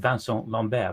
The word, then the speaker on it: Vincent Lambert: of a man called vanel lomber that's spelled like Vincent Lambert if people want to